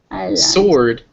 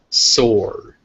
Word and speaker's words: sword: I I island island sword is pretty easy that W isn't pronounced and that o is that unique sound that only comes before ours sword sword Wednesday is a